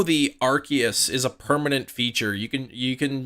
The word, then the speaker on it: Arceus: I'm hoping Arceus yeah that's the incorrect way of saying it I think that used to be the official way and then they changed it I think Arceus was like the original pronunciation but it is officially Arceus no yeah you're right